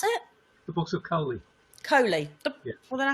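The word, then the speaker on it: Koli: How do you pronounce it? The books of Coley.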